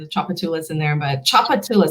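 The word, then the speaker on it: Tchoupitoulas: choose from huh and chocolatulas is a street and it's like a river there's all kinds of chocolates in there but choppatilla so the tch just makes the sound chop it to less and so they tend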